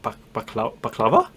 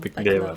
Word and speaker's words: baklava: Is it baklava?